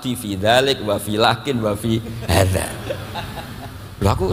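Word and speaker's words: لكن: Tidak adanya alif tetap mat itu mirip dengan dalika lakinna. Sama nulis lakinna, lam kaf nun, bacanya apa? Lakin.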